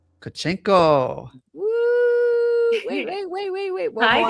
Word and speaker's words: Tkachenko: Marissa, and special guest DJ Tkachenko.